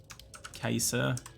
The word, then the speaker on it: Caesar: we're gonna call him gaius kaiser which is actually the way it's pronounced but i'm not going to pronounce it that way see guys cesa gaius caesar that's hilarious